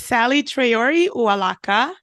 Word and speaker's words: Saley Traore Uwalaka: it's okay uh I please don't sweat the pronunciation it's Sally tayori uaka okay SOA yeah it's uaka thank you so